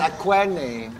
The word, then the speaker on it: Aquene: Maaf bacanya akuin, kalau akuin itu kayak mangga queenie. It's nice, Aquene.